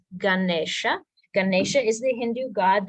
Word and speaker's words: Ganesha: Nation Ganesha so this is how it's spelled but don't be fooled it's not goodness it's Ganesha Ganesha is the Hindu